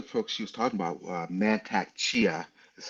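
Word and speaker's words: Mantak Chia: Um I knew one of the folks she was talking about, Mantac Chia is how you say his name.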